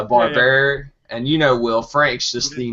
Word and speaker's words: Barberi: I know I said Barbary when I sat down, and it's Barberi.